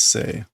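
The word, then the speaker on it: 性: Or is it Joel or is it Say? It might be Say. I always mix these up. It is Say.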